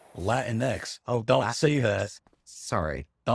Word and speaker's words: Latinx: x or just Latinos are you saying Latino eggs because that's like the common thing to say today isn't it don't sing that I'm sorry even then he said it wrong wow it's latinx oh don't see this